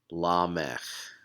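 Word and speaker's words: למך: a kamatz vowel, but here the schwa just reminds you that nope, no vowel at the end of this word. So this word, or actually name, is pronounced lamech.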